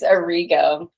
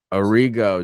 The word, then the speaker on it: Arrigo: your last name again it's a Rigo Arrigo Arrigo and we're